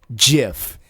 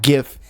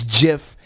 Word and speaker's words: GIF: quote they are wrong it is a soft G pronounced jiff end of story I'm rolling with Steve on this one you my folks you know Sen Steve it is not gift it is jiff you